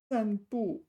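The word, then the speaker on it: 散播: Uh, Sanb. This is not the other sandb. This is not this sandb to go for a walk. This is sanb. This is pronounced the same though.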